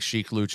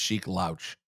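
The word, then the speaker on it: Sheek Louch: Well, first of all, you're saying his name wrong because I'm reading it. I think his name is pronounced Sheik Louch.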